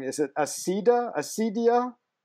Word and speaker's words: Acedia: You'll have to correct me if I'm pronouncing it wrong. Is it Acedia? Acedia? Acedia, yeah.